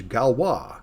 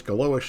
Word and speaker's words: Galois: is galwa counter mode i used to call this galois so i finally decided today i'm going to look it up and stop being an ugly american they can't pronounce anything it's french you're supposed to call it galwa they say so anyway